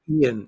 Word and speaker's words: Ian: We'll be broadcasting live during Hurricane Ian. Or is it Ian? I think it's Ian. I like No, it's Ian. It It's is pronounced Ian.